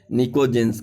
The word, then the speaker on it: pnicogens: निकोजेंस की जो spelling होती है PNICOGENS होती है, P से स्टार्ट होता है, निकोजेंस कहते हैं।